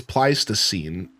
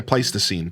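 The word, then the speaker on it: Pleistocene: It's like it's pleasine, but I just don't know how to pronounce an upside down backwards e. Yeah, place the scene.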